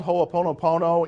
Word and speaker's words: ho'oponopono: It's called hooponopono in the Hawaiian tradition, and I wasn't even going to tell you that because now you have to write it down. And how do you spell it? Ho-o-po-no-po-no. Every syllable gets written.